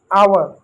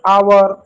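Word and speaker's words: hour: कुछ शब्दों में एच भी साइलेंट होता है। मुख होता है। विशेष को ऑनेस्ट आवर। जैसे शब्दों में एच साइलेंट होता है। जैसे आवर ऑनेस्ट गोस्ट एच का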